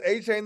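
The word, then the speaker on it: Achane: Oh, by the way, Sweets has A-Chain on his bench, if anybody was wondering. 53 points. He said he wants to pronounce his name A-Chain, so just so y'all know.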